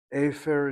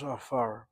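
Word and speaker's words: עפר: Oh, the word is pronounced as afar.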